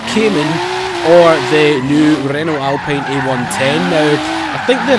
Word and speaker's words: Alpine: I mean, that that pronunciation is killing me. Seriously, I know it's meant to be Alpine according to the guys that have built the